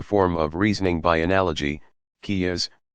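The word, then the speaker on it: قياس: of reasoning by analogy kia's pronounced ki yaa s that followed strict rules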